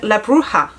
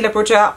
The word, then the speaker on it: Bruja: Because I've been advised that the J is in Spanish pronounced as an H. So is it then La Bruja Original Cosmetics?